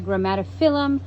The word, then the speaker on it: Grammatophyllum: I've learned if you have a phylum at the end, it's the short I sound.